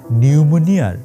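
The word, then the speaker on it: pneumonia: শেখ হাসিনার দশা এখন নিউমোনিয়ার ইংরেজি বানানটা আছে না নিউমোনিয়া ওইটার পি এর মতন মানে থাইকাও নাই আর কি আমি আপনাদের একদম দায়িত্ব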